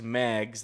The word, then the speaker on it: Mag: I don't know any flags, so she's going to be naming famous Mags that we put up on the screen. we just pronounced it mag, so it rhymes with flags.